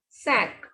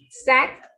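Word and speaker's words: cinq: For examples, SINQ, sack. Number 5, you will pronounce it completely. So this is sack.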